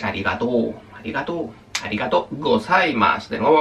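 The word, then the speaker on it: ありがとう: Ah, este también se alarga. Es Arigató.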